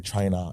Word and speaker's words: Traynor: Trainer. Yeah. Okay. I was worried cuz it's It's got a few different pronunciations there.